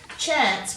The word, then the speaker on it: chance: Chance, we're using the CE for the S. It's the soft C sound at the end of that word, and it's how we